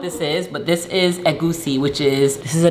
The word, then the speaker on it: egusi: Egusi? Egusi. Egusi?